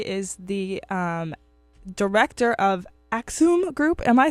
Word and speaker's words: Axüm: daniel warku he is the um director of aksum group am i saying that right you know